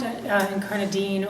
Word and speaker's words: Incarnadine: Uh, so Incarnine um can be pronounced Incarnine or Incarnadine. Uh I guess uh incarnadine is the more correct British pronunciation that I'm uh sort of fond of incarn.